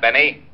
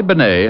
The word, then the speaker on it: Bennet: otis your mallet head you were wrong it's pronounced benay not benny that idiot was calling him remy benny was